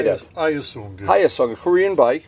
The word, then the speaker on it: Hyosung: Hyosung.